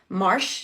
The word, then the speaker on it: March: Marsh, so it's spelled March, but you are taught in school that you say marsh.